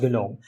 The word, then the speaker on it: GNOME: You can delete whatever you want, and even these GUI'd up desktop environments like GNOME, it's pronounced GNOME, Mate, and Cinnamon.